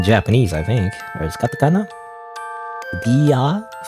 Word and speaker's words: Dear: I think or Katakana Dia it's just Dia in Japanese it's a Japanese pronunciation oops I keep out